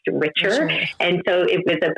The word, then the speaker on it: Richer: health consulting which my last name is actually richer but it is genetically spelled and pronounced richer and so it was a play on words